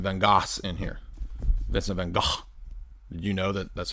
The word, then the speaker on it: van Gogh: Vincent van Gogh. Did you know that that's how you're supposed to pronounce it? Vincent van Gogh.